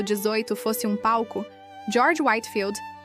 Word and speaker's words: Whitefield: George Whitefield, o trovão de Deus e a voz do grande despertar. Se a história da fé cristã do século XVI fosse um palco, George Whitefield, pronuncia-se Whitfield, seria seu ator principal.